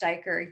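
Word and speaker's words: duiker: diker a small antelope named pronounced dyker uses a pair of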